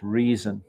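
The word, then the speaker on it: Rezin: silver sheath uh with Jim Bowie's brother's name reason okay it's presented to Jesse Perkins by resin Bowie okay the brother's name resin is actually pronounced reason right next person next knife I mean another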